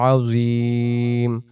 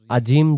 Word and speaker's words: العظيم: ওয়াহুয়াল আলিয়ুল আযীম, আযীম আজিম যদি পড়ি তাহলে জিম অক্ষর এটা হতে পারে, আযীম হবে, আযীম।